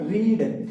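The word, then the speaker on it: read: रीड। तो रीड का रीड की थर्ड फॉर्म भी क्या होती है? रीड होती है। स्पेलिंग सेम होती है लेकिन इसका अर्थ निकलता है उच्चारण निकलता है रेड।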